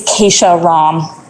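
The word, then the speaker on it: Kesha Ram: if you might call my name again, but pronounce it correctly. Is that all right? It's Keisha Ram.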